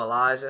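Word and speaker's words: Alijah Vera-Tucker: I believe that's how he pronounces it. You're close. Elijah. Oh, Elijah.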